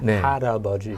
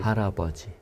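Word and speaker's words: 할아버지: So, to look at it kind of phonetically or syllable by syllable, it looks like but when we say it, it sounds more like an R sound. Haraboji. Haraboji.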